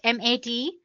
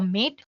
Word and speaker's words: MATE: the mate desktop environment let me pronounce it mat a you can call it whatever you want M or mate desktop environment so as